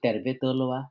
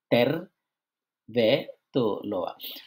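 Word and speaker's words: tervetuloa: সেটা হলো যে ফিনিশ ভাষার উচ্চারণের ক্ষেত্রে প্রত্যেকটা শব্দের যে ১ম অংশ আমরা যেটা কি বলি শব্দাংশ বলি কিংবা ইংলিশে বলি সিলেবল, হ্যাঁ? ফার্স্ট সিলেবলে বেশি করে চাপ দিতে হয়।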